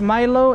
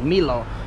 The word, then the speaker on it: Milo: nice Milo please Milo Milo you guys always tell me I say Milo wrong I say Milo because my family's from Latin America and we pronounce the m-i-l-o like Milo we're gonna make a